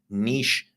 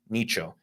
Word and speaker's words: niche: then you are likely in a niche, nicho, depending on how you want to pronounce it.